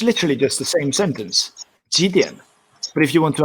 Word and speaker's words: 几: Remember to pronounce 几. Sorry, 几 in like 几. Otherwise, it will become 一点. It will become 一点. Okay, so 一点, not 几点, saying it's 1 o'clock.